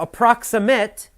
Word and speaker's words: approximate: the first page now approximate is an adjective and you have to listen carefully the pronunciation is different for the verb and the adjective as an adjective you say approximate the approximate price is